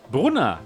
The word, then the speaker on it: Brunner: this is the Yoke Brunner yoke you're right Bruna that's how we say it in German language so this is how